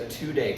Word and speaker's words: tudei: This means that it's certified as noble kava versus a 2-day kava, which is spelled Tudei.